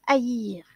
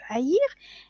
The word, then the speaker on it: haïr: Le verbe haïr contient un H aspiré. Le H muet n'est pas le H aspiré qui correspond à un léger bruit de souffle qui empêche l'effacement et par ce fait même la liaison entre les mots.